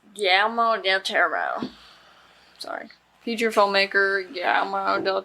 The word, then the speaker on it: Guillermo del Toro: How do you pronounce his name? Guillermo Del Toro. Guillermo Del Toro.